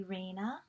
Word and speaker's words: Rayna: and her i like if you call me reina but you can also call me